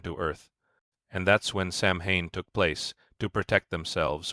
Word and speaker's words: Samhain: Long before trick-or-treating or pumpkin carving, there was Samhain, pronounced Samhain, a festival celebrated over 2,000 years ago by the Celts in Ireland, the UK, and northern France.